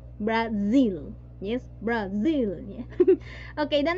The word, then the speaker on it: Brazil: Yes, la pronunciación es Brasil, ¿no? La S, la Z que está por ahí se vibra, ¿no? Z, Brasil.